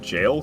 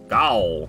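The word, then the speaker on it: Gaol: frenzy duelist over in it's just called jail cave G cave but I know it's not pronounced G as much as I want to say G it's just not pronounced that way and a boo boo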